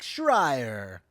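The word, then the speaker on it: Schreier: Director Jake Shrier. He's looking at all my notes. It's the way you It's because it's it's spelled S H R E I E R. And in my head that's shrier. Yeah.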